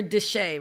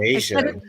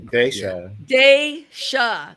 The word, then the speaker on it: Dashia: Dashia, right? No, Dashia. Dashia. I'm never gonna say it right. You know what? It's gonna take like. It's okay. Think about day, like daylight, and then Sha. Dashia. This is good because I